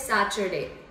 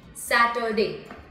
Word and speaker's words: Saturday: them pronouncing saturday as saturday okay so first of all t u is not making sound of cho here right it has to be pronounced as sat sat or d saturday in other word on